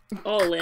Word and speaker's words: Alina: But I did look up how to pronounce Alina. And it's more or less how we're saying it, but with a Russian accent. So, like, Alina.